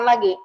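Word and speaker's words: لَ: Ini dibacanya pendek loh, jangan panjang ya. Kalau panjang berubah nanti.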